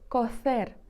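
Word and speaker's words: cocer: кофер також будь ласка Зверніть тут увагу на вимову тому що кофер вимовляється з між зубною с ф кофер варити кошер з есе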